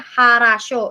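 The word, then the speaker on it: хорошо: Nah, jadi di Rusia itu ada beberapa pengecualian, ada beberapa kata yang walaupun O dibacanya tetap A. Contoh misalnya harasho, itu semuanya sebenarnya huruf vokalnya adalah O. Nah, tapi namanya ada beberapa pengecualian gitu di bahasa Rusia.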